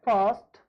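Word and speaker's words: first: हम लोग आर का उच्चारण नहीं करते। कैसे नहीं करते? जैसे हमारा एक वर्ड है फर्स्ट।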